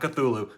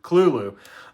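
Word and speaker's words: Cthulhu: pronunciation in a second not cthulu Kulu uh and I've been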